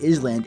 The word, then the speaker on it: island: There's an S in it, it's clearly Island, not island, and she's like, yeah, there's an S, but the S is silent, and I'm like, then